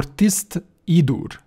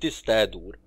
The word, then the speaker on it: Tiste Edur: Okay, what we forget about Andy, but what about Tiste Edur or Tist Idur? Tist Idur have it sound right to me, although I was pronouncing it Tist Edur, but Tist Idur sound right.